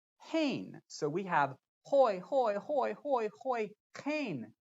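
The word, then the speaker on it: הוֹי: word that we translate as woe is it's pronounced hoy and the word behold is pronounced hane so we have hoi hoi hoi hoi hoy kein poi judgment with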